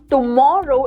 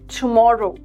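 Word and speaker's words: tomorrow: इट इज you don't pronounce ट इट इज ट। Okay? So इट इज not tomato but इट is tomato. Okay it इज नॉट टुमारो इट इज टुमारो alright it इज नॉट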